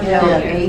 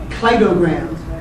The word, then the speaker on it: cladogram: But it really is clay, not clad. Cladograms.